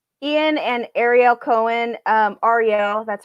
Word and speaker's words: Arielle: for tout wars ian and arielle cohen um arielle that's how you pronounce his name they tied for first and